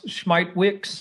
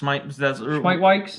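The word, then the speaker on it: Smithwick's: Well, we learned how to pronounce Schmeitwix. Schmeitwix.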